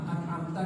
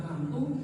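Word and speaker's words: أنعمت: Tapi kalau dia tuh tidak sadar karena mungkin lagi pikirannya kemana-mana, an'amta dia bacanya an'amtu, maka di sini para ulama ada perbedaan.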